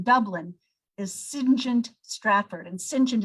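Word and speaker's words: St John: is singent stratford and sinchen is spelled like saint john syngent stratford he himself is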